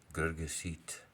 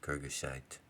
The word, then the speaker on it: Girgashite: the Amorite, and Hittite, and Pherezite, Canaanite, Hananite, Girgasite, Evite, Jebusite, and I will destroy them. I know, we normally pronounce them Amorite, Hittite, Pherezite, Canaanite, Girgashite, Evite, Jebusite, and I will destroy them.